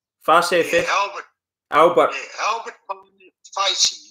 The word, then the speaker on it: Facey: Your grandfather, Albert Facey, is that how you pronounce his name? Facey.